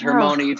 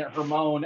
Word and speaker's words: Hermione: you all the what did you know how to pronounce it uh yes i did know that it was hermony from the from the uh happy popular series it's her mind yes what i think actually is funnier is imagining rachel reading all the books and pronouncing her moan every time turned it into